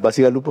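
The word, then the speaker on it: Bacigalupo: Pluralidad, tal vez, Basigalupo, ¿cómo se pronuncia? Basigalupo.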